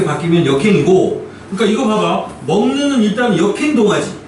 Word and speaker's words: 먹는: 그래서 먹는 이렇게 되는데 비음 니은음이 뒤에 떡한이 버티고 있잖아. 네. 그러니까 받침 비역이 발음상 뭐로 바뀌어요? 같은 비음 계열인 이응으로 바뀌어 버리죠.